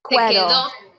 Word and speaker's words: quedó: Quedo. Quedo. When you Maybe have, it's just a K. When you have Q, U, E, it's pronounced que.